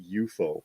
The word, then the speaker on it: UFO: shame Johnny shame why take those periods out it's eupo oh it's not Jerry Anderson pronounced it eupo on the show it was not UFO